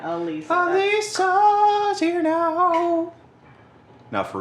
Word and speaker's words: Alisa: Lisa with an A in front. Alisa.